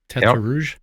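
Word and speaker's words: Tertre Rouge: Please pronounce this properly for me, Ross. Tetre Rouge.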